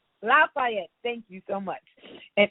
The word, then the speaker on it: Lafayette: young women task force of Greater I probably pronounced that wrong is it laf Lafayette Lafayette thank you so much and in this position